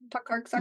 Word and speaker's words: Tokarczuk: Tokarczuk Oh, Tokarczuk, yeah.